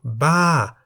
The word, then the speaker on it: บ้า: For example, Ba, meaning crazy, is in the falling tone because the single syllable in the word Ba begins with a middle-class consonant Bo by Mai and has the tone mark Mai To.